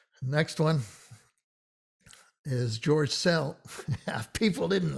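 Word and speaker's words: Szell: was s by itself in cell it's the s z which uh is a double letter and we don't pronounce the z and it gives the z gives the s this soft cell soft s type sound okay george cell let's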